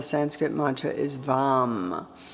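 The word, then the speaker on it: वं: And then the one syllable Sanskrit mantra is vam v orange.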